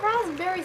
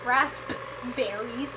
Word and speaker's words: raspberries: And why are raspberries spelled with a P? Because nobody says raspberries. Everybody says raspberries.